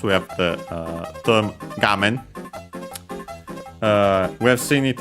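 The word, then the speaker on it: 画面: have the uh term gam. Uh we have seen it actually before maybe also in this series I'm forgetting. Uh it's a Chinese compound but one accent on the first syllable.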